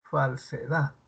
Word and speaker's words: falsedad: ¿Dónde está el acento? La sílaba tónica. En la Dad, ¿en la C o en la fal? Falsedad. ¿Cuál? Dat. En la DAT.